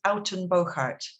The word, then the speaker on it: Uittenbogaard: and i'm living in the netherlands and you pronounce that as alton boccart which uh confuses everybody so it's not just